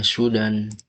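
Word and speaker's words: 手段: Ini bacanya Sudan.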